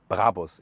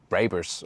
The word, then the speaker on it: Brabus: By the way, listen and repeat, Brabus. It's not Brabus or something. The original German pronunciation would be Brabus. Really hard German pronunciation.